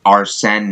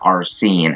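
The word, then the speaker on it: Arsène: also I just remembered it's pronounced our sin not our scene I gotta remember that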